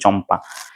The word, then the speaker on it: চম্পা: সব জিনিস ক্যাম্পা হচ্ছে ক্যাম্পা না উচ্চারণটা হবে চম্পা রাইট এইযে এখানে বঙ্গ